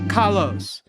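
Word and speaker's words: Kollos: Miranda says kos. So it's like kos. It's kos. Kos. Kos. It seems like kos is the right one.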